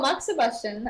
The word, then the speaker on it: moxibustion: can pronounce what is Moxy buusan so moxibustion I have another little